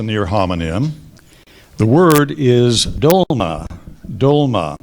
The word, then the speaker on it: dolma: word has a near homonym the word is dolma dolma it's a noun and it means a